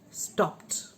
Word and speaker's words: stopped: word this is common among indian students do pronounce it as to stopped girls were stopped from going to school right